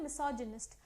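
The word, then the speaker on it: misogynist: तो मीसोगाइनिस्ट का मीनिंग है, मिसोजिनिस्ट बोलते हैं, तो कैसे प्रोनाउंस करते हैं? मिसोजिनिस्ट।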